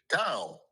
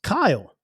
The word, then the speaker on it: Kyle: So how do you pronounce my name? Kyle.